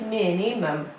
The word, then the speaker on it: minimum: is minimum minimum is minimum three level and the stress is on the first level minimum minimum cable to